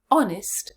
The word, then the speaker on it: honest: Now let's look at the second word. Honour. Honour. 2 syllables. Let's break it down again. First syllable, O, short vowel, n, on, just like in honest. Second syllable, short vowel, unstressed. Let's put them together. Honour. Where is the stress? Honour. Yes, it's at the beginning again.